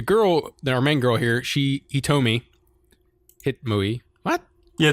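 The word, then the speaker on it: Hitomi: But the girl, our main girl here, Hitome. What? Yeah, it's Hitome. Oh, sorry. It's Hitome.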